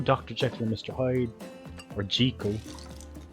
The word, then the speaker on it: Jekyll: jekyll mr hyde or jiko is how it's pronounced books no thanks frankenstein